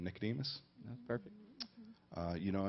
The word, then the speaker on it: Nicodemus: Bible um and it was actually uh going mispronounce his name Nicodemus that's perfect uh you know and how sometimes